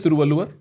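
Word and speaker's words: Thiruvalluvar: How old is Thrualu?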